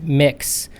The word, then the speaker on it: Mx: support for the salutation mx pronounced mix would be a great